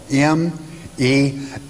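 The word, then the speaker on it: μέλλω: The word in the Greek is mello, M-E-L-L-O, pronounced in the Greek tongue, mello.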